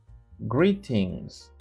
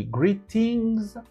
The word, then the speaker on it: greetings: Alors, en anglais américain, lorsque vous avez T entre deux voyelles qui sont prononcées, le T se prononce broken D.